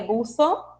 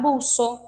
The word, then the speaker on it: buzo: O espanhol europeu, o espanhol lá da Espanha, lá da Europa, eles pronunciam esse som interdental, ou seja, eles colocam a língua entre os dentes para pronunciar, que muda um pouquinho, né? Ficaria buzo, e já na América Latina, os hispanohablantes dos países americanos vão falar buzo. É mais na Europa mesmo que eles falam interdental, buzo, e para cá a gente fala buzo, que não está incorreto.